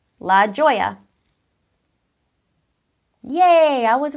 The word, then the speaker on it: La Joya: Lajoie yeah that's so I'm saying it right La Joya yeah I was right sometimes things come across